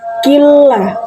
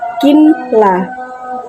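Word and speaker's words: ولكن لا: Karena ini huruf depannya adalah huruf lam, jadi mengikuti, yaitu killah, bukan kinlah, namun killa ya'lamun.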